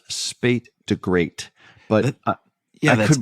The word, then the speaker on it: SP8DAGR8: U.S., and I think the pronunciation of the name of this reviewer is Spate de Great, but yeah, I that's could be wrong on that. SP8DAGR8. Spate de Great.